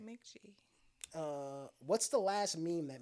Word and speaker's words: Mk.gee: But I've been listening to Mick G. I think it's spelled MK.GEE.